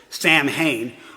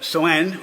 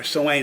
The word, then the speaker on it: Samhain: sewane spelled s-a-m-h-a-i-n so you may think you pronounce it samhain but sowen or sewain is how they pronounce it and their most important